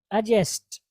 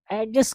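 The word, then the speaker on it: adjust: एडजस्ट करो ना यार, जबकि यहाँ पर डी साइलेंट है मेरे भाई और दोस्त और बहनों। ये क्या होगा? एडजस्ट, एडजस्ट, एडजस्टेड, एडजस्टेड, मुरत्तब करना या एडजस्ट करना। ओके, तो आर्ट से आप इसको क्या पढ़ेंगे? D silent, एडजस्ट। डी बिल्कुल भी नहीं पढ़ेंगे, एडजस्ट नहीं पढ़ेंगे, एडजस्ट,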